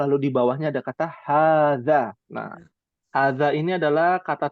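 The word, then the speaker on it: هذا: Alif kecil itu menunjukkan bahwa bacaannya 2 harokat kalau ilmu tajwid ya. Nah, bahasa Arab juga sama, agak panjang bacanya.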